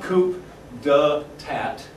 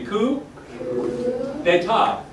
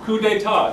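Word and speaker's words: coup d'état: with me coup d'etat coup d'etat in France I don't know why they use it's very very like bad environmentally because they're wasting all of their last continents they never pronounce the last consonant why isn't even there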